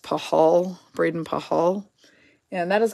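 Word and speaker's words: Pachal: probably um yeah so I think it's pronounced pahal Braden pahal and that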